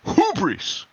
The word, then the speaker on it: hubris: it down there to to pronounce it properly you have to really put some oomph into that first syllable it's hubris because I'm gonna